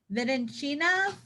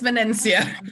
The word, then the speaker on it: Venencia: Venencina from Beacon. Close, but not so close. It's Venencia.